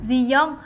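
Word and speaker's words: Ji-yong: Nam nghệ sĩ Nam Ji-young sở dĩ có nghệ danh là G-Dragon là bắt nguồn từ tên thật Ji-young, G phát âm giống chữ G và Young nghĩa là dragon, rồng trong tiếng Hàn.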